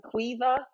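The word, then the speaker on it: Caoimhe: Like there's one Irish name was like Cuiva, and like if you just look up the name, you can't even know because I'm gonna have to spell it for you. It's Caioomhe, and it spells nothing like it said.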